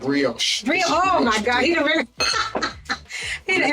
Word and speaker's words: brioche: How you pronounce it? Brioche.